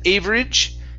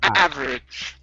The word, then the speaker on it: average: the word average now here you said average okay it's average average okay very good very